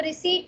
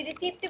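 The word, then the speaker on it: receipt: पे पढ़ते हैं, तो रिसीट रिसीट कहते हैं, पी साइलेंट पढ़ते हैं पी, तो इसको रिसीट रिसीट कहते हैं। तो जैसे मर्जी रिसीप्ट भी कह सकते हो रिसीट भी कह सकते हो।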